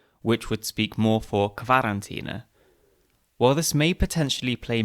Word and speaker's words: Quarantäne: Since other German words with QU are pronounced as kv, like Qualle, jellyfish, it stands to reason that many people would pronounce Quarantäne.